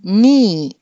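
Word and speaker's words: knee: అంటే మోకాలు దీన్ని మనం ఎలా పలుకుతాం ఎన్ ఈ ని అని చెప్పి పలుకుతాం సో కె అన్నది మనకి కనిపిస్తోంది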